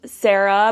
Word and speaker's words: Sera: Like we have like Clementine, Albert, Sarah, but it's spelled S-E-R-A, kind of like Serafina or like Que Sera, which is just like really fun.